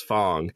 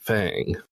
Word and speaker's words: Fang: I almost accidentally pronounced Fang as Fong, because Maddie Grace kept pronouncing it like that, even though the characters in the game pronounce it Fang.